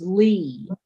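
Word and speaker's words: -ly: And um l y is pronounced lee.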